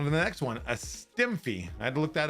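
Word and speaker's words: STEMFIE: So on to the next one, a STEMFI. I had to look that up just to make sure I pronounced it right. It's like a selfie, but it's a STEMFI.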